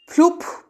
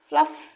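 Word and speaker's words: fluff: যেমন ধরো এই যে ফ্লুপ বলবো, ফ্লাপ বলবো, কি বলবো বলো, শর্ট সাউন্ড, আবার সেই শর্ট সাউন্ড, এই উচ্চারণ ডাবল এফ এর একটি এফ এর মতো উচ্চারণ হবে, তাহলে কি হবে, ফ্লাফ।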